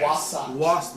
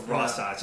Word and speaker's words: Wasatch: It's like Sasquatch. That's not actually close at all.